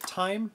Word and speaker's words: T:ME: time games is that is that how you pronounce it time time salvo because it's got a t and then two dots then m e and t and i